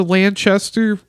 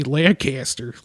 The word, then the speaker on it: Lanchester: I was about to say Lancaster like PA where the Amish are.